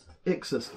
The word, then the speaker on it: Ixus: how do you pronounce that? Ixus.